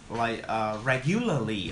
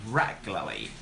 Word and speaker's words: regularly: Academy, I noticed that a lot of students mispronounce this word, and you guys pronounce something like regularly or something like that. But actually, we got regularly. There's no U sound.